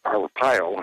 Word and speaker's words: Arpaio: Here in Maricopa County, Sheriff Joe Arpaio, I believe that's how you pronounce his name.